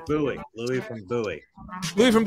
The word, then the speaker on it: Bowie: How do I pronounce this? Come on in. It's Bowie.